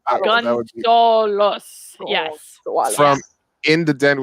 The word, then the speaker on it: Gunsaullus: which I always pronounce wrong, but it's like it's Gunsaullus, but it's like Gunsaullus. It's just spelled the German way. Yeah, it's how Germans say Gonzalez. It's exactly Gunsaullus.